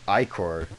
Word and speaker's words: ichor: I can fill it with magical liquor. That's pronounced ichor.